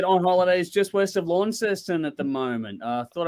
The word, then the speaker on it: Launceston: wow in Tassie because I always called it launch it they call it Launceston apparently it's pronounced Launceston I'm slowly getting educated on that right pronunciation